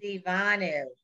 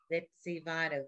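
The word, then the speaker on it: וְצִוָּנוּ: What's the vowel what's the nun's vowel, everybody? Ooh. Ooh. Somebody punched him in the stomach and he goes, ooh. Ooh. Vetsivanu. Vetsivanu.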